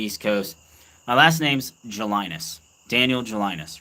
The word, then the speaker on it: Gelinas: My last name's Gelinas. Daniel Gelinas, right? You pronounce it in French as Gelina.